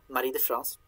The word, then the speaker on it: Marie de France: So this one, L'Enval, this is by Marie de France. Trying to pronounce her name more in an old French way than a modern French way.